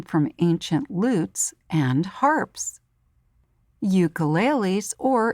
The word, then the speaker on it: ukulele: Ukuleles, or in Hawaiian it's pronounced ukulele, is also called a uke.